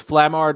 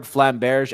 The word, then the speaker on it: flamberge: There's 3 pronunciations. There's flamard, flamberge, and then flambard with the B. So you can do all of them. Basically, it's the where the name originated.